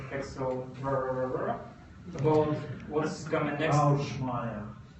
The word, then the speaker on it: Шумада: Schumada. Thanks. I met him this year, and he told me how to pronounce his last.